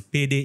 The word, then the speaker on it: PDIP: okey pip kalau kat kalau kawan-kawan kita kat Indonesia dia pronounce paydep Pep Pep betul pdep betul kan Pep dengan nasdam dua